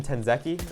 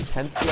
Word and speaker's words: Tensky: You know, even though I was loving Tenzeki saying his name, Tensky I kind of might like better. Yeah. It just rolls off the tongue. Yeah, it's 2 syllables. And I was doing like 4. Tenzeki. That's 3. I was doing 3 syllables versus 2, but no matter, guys.